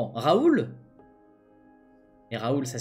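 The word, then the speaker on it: Raul: Donc ça se prononce comment ? Raoul.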